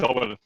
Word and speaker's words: Orwell: Yes, it's Orwell. Yes. Oh, okay. Yeah, it's named Orwell. It's referred to George Orwell.